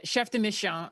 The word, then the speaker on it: chef de mission: How do you say it? I like to say it my my 5-year-old daughter is Chef Dishon, but no, it's Chef Deish.